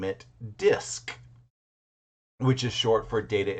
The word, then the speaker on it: DISC: The problem that I had, and I think one of my coworkers had, was just that hard C at the very end, making DISC seem very difficult.